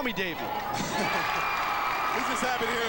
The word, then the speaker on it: Davi: It's spelled D-A-V-I.